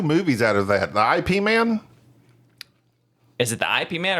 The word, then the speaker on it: Ip Man: I IP yeahp man it's ipman you pronounce it they took off the L it's not used to be Lipman all right you can't